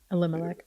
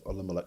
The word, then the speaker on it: Elimelech: So he's a man of standing from the clan of, I can't pronounce the word right now. Elimelech. Yeah, Elimelech.